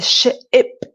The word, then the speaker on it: ship: So ship obviously is a large vessel, a boat, and it's a ship, ip sound at the end. Ip. The ip at the end is short and it's a quick ship.